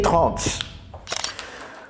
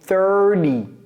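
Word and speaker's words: thirty: C'est 30. 30. Donc, on va les écrire. Ça, c'est 13. Ça, c'est 30. 30. Et les Américains prononcent ce T comme un D.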